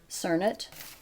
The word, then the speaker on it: Cernit: as you can see turn it or make that's how it's pronounced let's try to just